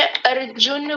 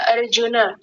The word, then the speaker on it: अर्जुन: इन्होंने र को पूरा र बोल दिया था। हाँ बहुत सुंदर, बहुत बढ़िया। विनायक जी आपने बोला अर्जुन, अर्जुन, अर्जुन। आपने ऐसा बोला अर्जुन, जबकि क्या है अर्जुन। अर र को आधा कीजिए, जैसा है वो वैसा ही कीजिए।